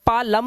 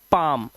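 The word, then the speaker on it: palm: अब इसे पा लम नहीं पढ़ते क्योंकि एम से पहले आया एल साइलेंट होता है। तो इसे पढ़ते हैं पाम।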